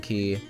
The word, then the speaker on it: Quay: or golden key um I say Quay cuz it's spelled q u a y but it's golden key um I love the